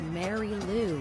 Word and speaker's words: Marilu: It's pronounced Mary Lou. That's what I said, Marilu.